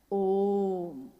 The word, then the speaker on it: ओम: सुना जाए उसको तो उसकी आवाज गूंजती हुई ऐसी है जैसे हम बोलते हैं या उच्चारण करते हैं तो हम कहते हैं ओम है वो अ उ